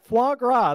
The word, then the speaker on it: foie gras: here go ahead say it for us please foie gras there we go my goodness fish sticks and